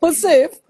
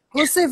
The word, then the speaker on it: housewife: Actually, it is pronounced Hosef. Hosef.